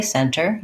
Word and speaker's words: center: Now, when I just said those two words, center and internet, I said them with a T. So you can say center, you can say internet. What you'll hear, though, very often in American English is that with these words with NT in the middle, Americans will leave the T out and they'll say it